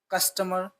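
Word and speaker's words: customer: ओ की जो आपको आवाज़ साउंड निकालनी है वो हाफ निकालनी है, कस्टमर, कस्टमर ग्राहक।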